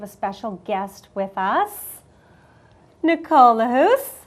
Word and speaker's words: Lahousse: Nicole Lahousse, how are you? Great, thank you. I pronounced that correct? Yes, Okay, you did.